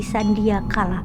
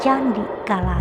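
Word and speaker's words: sandikala: sand kala berubah menjadi Candi kala yang harusnya dibaca sandi kala malah menyebutnya menjadi Candi kala Ya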